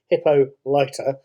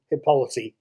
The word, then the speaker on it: Hippolyta: hippolyta i should say it's pronounced hippo lighter rather than hippolyta as i would expect from the greek the wonder woman movies